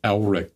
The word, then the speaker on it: Elric: more because it's like there's no character named Eric in the book, and then occasionally they'll just say my name. The narrator will just say my name, and I'm like, that's weird. Like, dude, it's Elric.